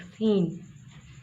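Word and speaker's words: scene: हैं ई और आई, अगर इनसे पहले सी आ जाता है तो ये क्या हो जाता है, सी साइलेंट हो जाता है। Like सीन, Saint. अब यहाँ देखें, ये जो हम की आवाज़ आ रही है ये इस सी की आवाज़ नहीं है ना, सेंट में ये सी की आवाज़ है, ये एस की आवाज़ है।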